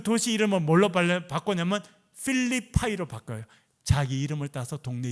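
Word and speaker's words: Philippi: 이 사람 이름이 영어식 발음은 필립이거든요. 필립. 그래서 그 도시 이름을 뭘로 바꿨냐면 필리파이로 바꿔요.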